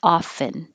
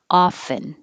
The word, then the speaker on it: often: same blue blue 20 you can say the t but it's not as common so most people don't have the t and it sounds like often and the vowel is ah so open enough to make it ah often or often 21 squirrel this is